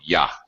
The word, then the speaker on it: you: a couple things there you being a pronoun we're going to look at later is also reduced often to yah how you doing uh okay but notice that he's connecting it with a vowel sound o in r in or so he actually gives full pronunciation of you using the Glide W to connect it you were you were